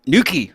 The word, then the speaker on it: Newquay: From Newquay, right?